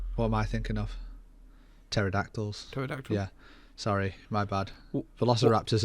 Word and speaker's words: pterodactyls: am i thinking of pterodactyls yeah sorry my bad velociraptors are not going to fly with pterodactyls i don't know because the p is silent i